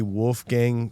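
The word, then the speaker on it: Wolfgang: Wolf Gang.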